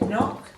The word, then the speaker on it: knock: noise when you knock on something we say knock not now this night the solid K is